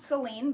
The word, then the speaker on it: Selene: Selene, spelled Selene, but I believe pronounced Selene, is the Greek goddess